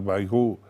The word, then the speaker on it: Bayrou: Ahora, cuando este señor que decís que se debe pronunciar Bayrou, muy bien, apela a